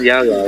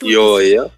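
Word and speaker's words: Yaoyao: So it's not Yao Yao, right? It's Yo, yeah. I mean, in English, it's probably gonna be Yao Yao.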